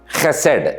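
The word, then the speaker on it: חֶסֶד: ஆராதிக்கிறோம் அவருடைய அற்புதமான குணாதிசயங்களில் ஹெசட் என்கிறதான குணாதிசயம் அதை மறந்து விடக்கூடாது. ஹேத சாமக் டாலத் ஹசட் என்று சொல்லி அதை உச்சரிக்க வேண்டும்.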